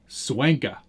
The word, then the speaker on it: Swanka: Charlie, how do you say his last name? Swanka. That's what I thought. I always think that I'm saying it wrong because I always think I'm calling him the coffee name.